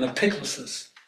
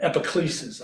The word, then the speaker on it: epiclesis: There is this thing called an epiclesis, or epiclesis, I've heard it pronounced both ways, which is that moment